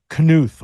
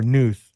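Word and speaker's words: Knuth: It's called Empire of the City: The Secret History of British Financial Power by EC Canuth or Nuth if you're into that type of pronunciation.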